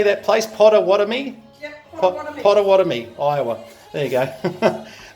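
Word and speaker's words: Pottawattamie: Yep, Potawatomi.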